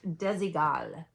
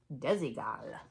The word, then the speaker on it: Desigual: This is not a great brand, but I like saying it, Desigual. Desigual cuz I learned how to say it right.